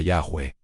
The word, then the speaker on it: Yahweh: prohibiera pronunciar el nombre, tenían una tradición oral que sonaba muy similar a Yahwe. Así que el consenso académico apunta a Yahweh, aunque debemos admitir que nunca podremos estar 100% seguros.